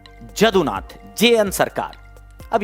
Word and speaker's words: जदुनाथ: नहीं बेटा, यदुनाथ सरकार नहीं है, जदुनाथ हैं, जे हैं। Ayush Singh UPSC aspirant. कुछ लोगों ने लिखा है यदुनाथ, नहीं बेटा, जदुनाथ, जेएन सरकार।